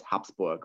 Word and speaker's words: Habsburg: that's sort of pronunciation the proper pronunciation in german is hops book where it kind of sounds like like a p but in fact the